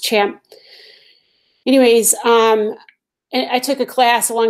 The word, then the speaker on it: XAMPP: It looks like XAMPP, but it's really, I think it's pronounced CHAMP.